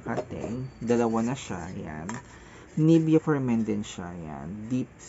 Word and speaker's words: Nivea: mismong nivia for men Hindi siya nivea it's nivia for men siya pang ano niya